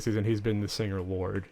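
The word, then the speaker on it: Lorde: How do you say it? Lord? It's just Lord.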